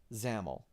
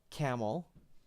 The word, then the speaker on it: XAML: so hard is because Microsoft has made it very clear for about 10 years now that XAML is pronounced zamel so just so you're